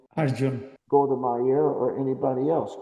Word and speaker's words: Arjuna: big leader like the Indian, how do you pronounce his name? Arjuna.